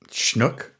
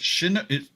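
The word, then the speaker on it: Chinook: Shinook? No, it's shinook. Right. It's not shnook. It's shinook. C h i and then nook. So it's I believe it's two syllables, not one.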